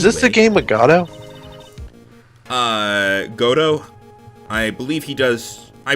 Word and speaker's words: Godot: So after that, and also, just so people know, yes, it is pronounced Godo. The T is, like, I used to say Godot,